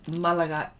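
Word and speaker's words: Málaga: I'm going to get it right, because there's an accent on the A, so it's Malaga.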